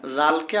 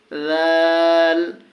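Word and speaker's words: ذ: খ খ দাল দাল দাল এটা জালকে আবার আমরা কি করতে হবে নরম করে উচ্চারণ করতে হবে জাল জাল র র র ঝা ঝা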